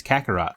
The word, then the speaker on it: Kakarot: You see, in the Goku's Saiyan name is Kakarot, like a carrot.